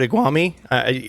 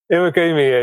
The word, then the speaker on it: Iwagumi: I always put iguami. What is the actual pronunciation? Iwagumi is nature aquarium.